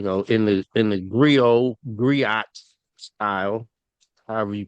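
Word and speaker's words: griot: in the in the Grio Gri style, however you pronounce it. I thought I was pronouncing Grio, but some pronounces gri in the style of the, you know, storytelling uh throughout all African cultures, you know.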